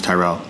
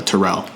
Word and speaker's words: Tyrell: My name's Tyrell. For the people that you guys already know that, but growing up, a lot of people would always get my name wrong. They would like always mix it up with like a Terrell, and like more times